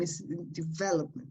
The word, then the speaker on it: development: verb is easy developed but when you pronounce the noun and the word becomes longer you change the stress so it's developed sorry